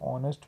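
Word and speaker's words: honest: की बात करो तो ऑनेस्ट में जो स्पेलिंग की स्टार्टिंग होती है वो ह से होती है बट साउंड उसमें ओ का आता है ओ मेंस क्या होता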